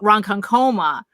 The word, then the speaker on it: Ronkonkoma: contention because it's like it's ronkonkoma but depending on where you're from which you know you're actually it comes out ronkan coma there's one thing americans